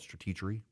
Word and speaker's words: Stratechery: I think most people pronounce it Stratechery, but he wants to call it Stratechery.